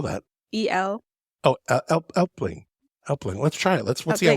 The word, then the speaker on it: Elbling: Elbling. Elbling? Mm-hmm. How do you spell that? E-L-B-L-I-N-G. Oh, Elpling.